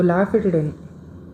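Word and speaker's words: lafutidine: So Lafayette இது rhymes with ranitidine.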